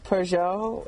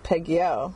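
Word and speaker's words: Peugeot: found out that uh pjo is not pronounced pgo and you mean the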